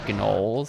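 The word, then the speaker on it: gnoll: Are these guys named gnol? Like a gnome plus a troll? Well, yeah. The G is silent.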